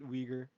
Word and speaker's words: Uyghur: yeah uyghur yeah right right that's how you pronounce it uyghur uh yeah it was like shot and made